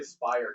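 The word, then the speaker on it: Speyer: I'll say Spire because it rhymes with Meyer.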